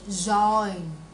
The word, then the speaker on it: join: Yeah, mà là join nè. Join. Join. Mình đánh lưỡi lên thôi, phía trên thôi. Chứ đừng có đọc chữ join.